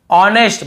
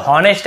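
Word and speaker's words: honest: एच नहीं पढ़ना है ऑनेस्ट बहुत से लोग नेस्ट ऐसे बोल देते हैं ये भी गलत है हम केवल ऑनेस्ट पढ़ना है एच को नहीं पढ़ना य प लेकिन लिखना है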